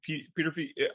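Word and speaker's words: Peterffy: You know, look, Petrofy, I believe that's how you say his name, Peter Fee.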